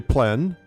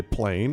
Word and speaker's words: plein: in the open air the French say plan others say plain it doesn't matter how you say it it's a movement of